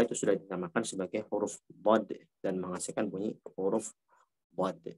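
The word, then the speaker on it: ض: sudah dinamakan sebagai huruf dad dan menghasilkan bunyi huruf dad. Dan ingat, dad dalam transliterasi emang DHA ya, DHAD ya. Tapi jangan diucapkan dat ya, wala dalin ya.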